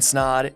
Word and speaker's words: Snaadt: My name is Snaadt. It rhymes with odd, and welcome back to another video.